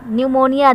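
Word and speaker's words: pneumonia: virus scan cars न्यूमोनिया न्यूमोनिया देख लीजिए meaning क्या होती है पीस साइलेंट होता है मारा न्यूमोनिया से वेरी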